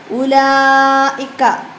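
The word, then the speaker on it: أولئك: എന്താണ് ഇന്നല്ലീന കഫറു ഉലായിക്ക ഉലായിക്ക അപ്പൊ ഇവിടെ നമ്മൾ മനസ്സിലാക്കേണ്ട ഒരു കാര്യമുണ്ട് ഇത് എക്സാമിന് ചോദ്യമായിട്ട് വരുന്ന ഒരു ചോദ്യമാണ് എന്ത് ഉലായിക്ക എന്നതിൽ ഉച്ചരിക്കാത്ത അക്ഷരം ഉലായിക്ക എന്നതിൽ ഉച്ചരിക്കാത്ത അക്ഷരമാണ് എന്ത് വാവ് ഉച്ചാരണത്തിൽ വരാത്ത ഒരു അക്ഷരമാണ് വാവ് അപ്പൊ അത് മനസ്സിലാക്കുക എല്ലാവരും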